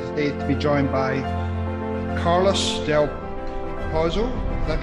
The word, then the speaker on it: Carlos del Pozo: am really excited today to be joined by carlos del proposal that pronounce that correctly you got it yeah cool